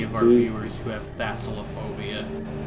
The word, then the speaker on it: thalassophobia: Also, hey, a major apology to any of our viewers who have thalassophobia. Thalassophobia. Is that how you pronounce that? Yeah, thalassophobia from Thalassa, who is the incarnation of the sea in Greek myth.